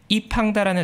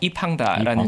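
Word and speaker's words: 易方达: 이분이 현재 이팡다라는 자산운용사에서 펀드를 운영하고 있는데 이팡다? 네, 이게 자산운용사 이름인데 네. 영어로 하면 이펀드인데 중국식으로 발음해서 이팡다라는 이팡다. 자산운용사 매니저고요.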